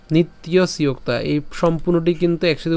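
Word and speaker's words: নিত্যস্যোক্তাঃ: ইয়োতা তাহলে উচ্চারণটা কেমন হচ্ছে অন্তবন্ত ইমে দেহা নিত্যসোক্তা নিত্যসক্তা এই সম্পূর্ণটি কিন্তু একসাথে উচ্চারণ করবেন নিত্যসোক্তা ঠিক আছে প্রথমত আপনারা ভেঙে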